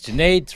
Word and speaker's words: Junaid: Uh, my name is Jade. Rhymes with Lemonade.